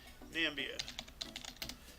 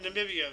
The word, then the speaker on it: Namibia: Namibia and then there's not Zambia hold on a second nambia nope Namibia so there is no nambia we've been pronouncing it wrong the whole time oh my goodness wow